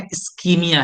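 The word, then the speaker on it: ischemia: हैं heart इस्कीमिया लिख heart इस्कीमिया pronounce से करें इस्कीमिया है य है ना ए सी एच एई एम आई हार्ड इस्कीमिया समझे हार्ट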